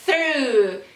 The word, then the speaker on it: through: Então, on Monday he ate through, língua no meio do dente, ó, fazer o som de TH, desse jeito, assopra a panela de pressão, o somzinho da panela de pressão, desse jeito, through, complicadinho essa palavra, mas é assim.